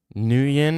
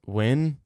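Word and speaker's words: Nguyen: New Yin is pronounced win. I don't care, bro. It's It's New Yin to me, bro. It's It's always going to be New Y.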